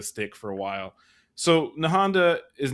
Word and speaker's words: Nahanda: just wanted to say, Queen Nahanda, am I pronouncing it right? Nahanda?